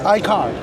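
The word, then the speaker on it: iCAUR: But the way they place it, they cleverly hide the U. So, it's still pronounced as Iicar. Okay. I car 03.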